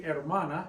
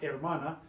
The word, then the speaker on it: hermana: You remember, we told you back with the alphabet, the H is always silent. You write it, but you don't say it, you don't pronounce it. Pretend like it's not even there when you pronounce it.